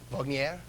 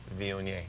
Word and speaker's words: Viognier: That varietal, how do you pronounce it? There was so much trouble with that. Viognier? Viognier.